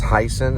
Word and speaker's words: Hysen: His name is Heisen. It's spelled Hysen.